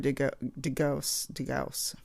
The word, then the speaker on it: DeGauss: This is Terry DeGauss. That's how you say his name.